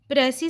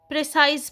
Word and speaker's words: précis: साथ ये कनेक्टेड है, लेकिन इसकी ठीक प्रोनाउंसिएशन है प्रेसी और लास्ट लेटर इसका एस जो है वो साइलेंट रहेगा। नेक्स्ट, प्रेसी जो है वो फ्रेंच वर्ड है।